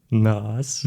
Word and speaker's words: NAHSS: Yeah, so this is pronounced as NAS.